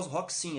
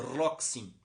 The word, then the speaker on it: Roxin: e incite claus roxin ea pronúncia aqui no brasil é claro rock sim é verdade mas não é correta o próprio dono do nome comenta que o seu próprio nome é calcular o rock sim porque com r mesmo como se fosse paulista roque sim seria pronúncia adequada do op analista vivo